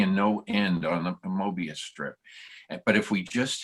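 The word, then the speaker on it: Möbius: We pronounced it Mobius, but it's really an OE in his name. So it's Mobius.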